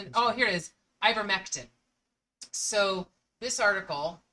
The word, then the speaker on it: ivermectin: It's ivectomycin. Oh, here it is. Ivermectin.